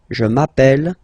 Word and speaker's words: appelle: I mean, you write them like here without s, here with s, and here with e and t, you pronounce them the same way. Je m'appelle, tu t'appelles, il, elle s'appelle, il, elle s'appelle.